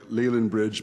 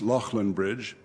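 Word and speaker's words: Leighlinbridge: in western ireland that looks to american ears like Leyland bridge but is actually pronounced Lachlan bridge his family was a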